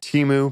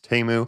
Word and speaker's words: Temu: on the site teu I guess I've been pronouncing it teu but after after seeing the Super Bowl commercials it's TAMU so I got to get used to calling